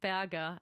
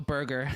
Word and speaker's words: Berger: How do you pronounce the last name? Berger. Berger. I didn't want to go Burger. Edward.